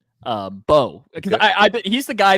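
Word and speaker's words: Mbow: There's no So but it's it's spelled M B O W but you don't say the M.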